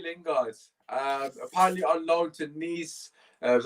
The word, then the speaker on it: Nice: Apparently on loan to Nice. That's how you pronounce it.